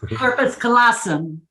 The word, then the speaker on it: corpus callosum: Corpus callosum. Thank you. I still can't pronounce it. The colossum part I got, but what's the first one? Corpus. Okay. I'll have to visualize. Like corporal, corpus, corpus.